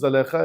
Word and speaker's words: زلیخا: داروں میں سے ایک بچے نے، البتہ صحیح تلفظ زلیخا ہے، لیکن آپ کہیں گے یہ کون سی